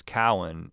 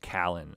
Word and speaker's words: Cowan: And you basically, like, you know, like with her, there was a nickname, her maiden name was Cowan, and somebody had mispronounced it. They call her like Callan, I think.